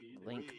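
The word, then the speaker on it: Linc: Link Reed spells his name L I N C just pronounced like with a K.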